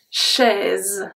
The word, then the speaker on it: chaise: This one is very interesting because we pronounce the S as a Z. Let's see. Une chaise.